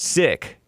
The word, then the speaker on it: Sikh: In June, someone assassinated this Hardeep Singh Nijjar, Canadian citizen, and Sikh, pronounced Sikh.